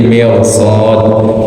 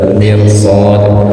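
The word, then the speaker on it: مرصاد: Kemudian sebelumnya kasroh itu dibacanya tarkik tipis fir, kecuali kalau di depannya ada huruf istilah seperti mirsad di surah Al-Fajr ada ya, mirsad, atau di surah An-Naba mirsada ya.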